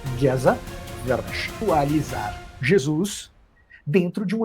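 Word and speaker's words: Géza Vermes: aqui, que é o Geza Vermes, que se lê Geza Vermes, mas pronuncia-se Geza Vermes.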